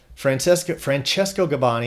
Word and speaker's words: Francesco Gabbani: Francesco Gabbani, Italian singer. You got to change gears to go into my Italian pronunciation there.